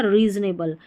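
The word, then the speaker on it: reasonable: ओ पढ़ दिया, ओ को ओ, लेकिन बड़ी स्पेलिंग्स में ओ को अ पढ़ते हैं अक्सर। तो ये हो गया रीजनेबल, यानी उचित, तर्क संगत, रीजनेबल।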